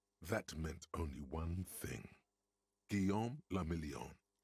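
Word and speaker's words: Guillaume Le Million: meant only one thing guillaume lamillion right if it doesn't rhyme you're not pronouncing it right ah thank you drama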